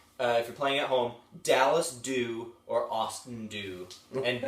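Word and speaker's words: Dallas Dhu: So again, if you're playing at home, Dallas Dew or Austin Dew, and Dew is spelled DHU.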